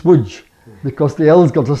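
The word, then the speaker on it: Łódź: As you notice, I said my grandmother came from a place that looks on the map like Lods, but it's WJ because the L's got a stroke through and the O's got an acute accent on it.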